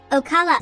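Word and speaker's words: Ocale: to represent the mayan ocala a mayan province in florida in 1539 the hernando de soto expedition heard fabulous stories about a province in florida called o'cale pronounced ocala mayan glyphs at crystal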